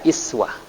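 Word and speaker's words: إسوة: Uswatun hasanah, uswah, atau dalam riwayat lain dibaca iswah. Ya, Imam Warash dari Imam Nafi' itu membacanya laqad kana lakum fi Rasulillahi iswatun hasanah. Dibaca kasrah. Ya.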